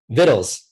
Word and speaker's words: vittles: If you read the King James version, vittles. It's like Skittles food. With a V.